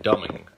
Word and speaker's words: Domang: But Ben Love, a friend in Lafayette, his radio producer is Clint, and it's spelled Domang, but he pronounces it like Dumming.